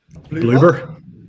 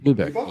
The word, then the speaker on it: Bloober: And I know there's some people that are upset because it's, how do you pronounce the studio doing? Is it Bloomberg or Bloober? Bloomberg, yes.